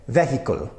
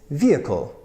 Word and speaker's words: vehicle: reason it's just pre-programmed they say vehicle so very strong three syllables vehicle but in my way of saying it in the American accent that I know it's vehicle vehicle number nine in the